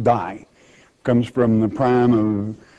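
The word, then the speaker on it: δεῖ: it's really a little three-letter greek word d-e-i pronounced die comes from the prime of diol and it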